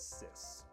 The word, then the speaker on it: cis: are referred to as sis sis spelled CIS is a technical term